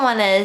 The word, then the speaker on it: 哦: If you're interested in knowing more, I've included these details in the PDF of today's lesson. Okay, now let's move on to the next one.